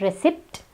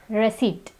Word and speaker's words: receipt: is receipt it's not recipt its receipt here the P is silent the next word is